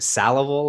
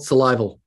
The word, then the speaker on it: Salival: anima in 1996 uh is it sallival or salival salival survival 1999 and lateralis